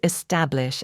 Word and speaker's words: establish: How do you pronounce establish and what's the stress pattern? Back. Establish. Stress on middle syllable. Common mistake. Don't stress the first syllable means to create or set up something permanent.